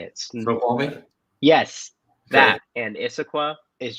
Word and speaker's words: Snoqualmie: The whole area of, and I'm going to butcher these names. I think it's like Snoqualmie. How do you say it? Snoqualmie?